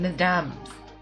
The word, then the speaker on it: mesdames: You don't pronounce the S in mesdames. Mesdames.